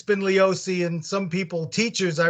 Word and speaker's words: Leoce: gentlemen hello how do we pronounce your last name we pronounce it leosi although it's kind of